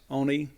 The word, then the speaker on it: Oni: Even though their Ani pronounces it more with a longer O, I guess. Oni Logan.